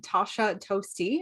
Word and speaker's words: Tosha Toste: ignited today on the podcast i am interviewing tasha toasty and i have confirmed that is how you